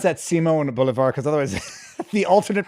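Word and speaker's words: Simón Bolívar: seiman bouevard quite good you better you better pronounce that Simone boulevar because otherwise the alternate pronouncing pronunciation might sound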